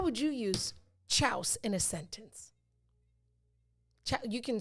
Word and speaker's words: chouse: It's spelled CHOUSE. Pronounced chouse.